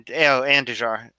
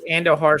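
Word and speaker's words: Andújar: Yeah, Andujar. What did I say? Andujar. Andujar. The J is silent.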